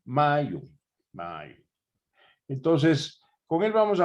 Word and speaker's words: Mayu: Julio Vicencio es miembro del centro MACU, perdónenme, pronuncio mal, Mayo.